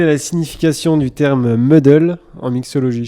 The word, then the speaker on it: muddle: Quelle est la signification du terme muddle en mixologie? Je sais pas si je le prononce bien. Ouais, c'est ça. Si, c'est bien prononcé.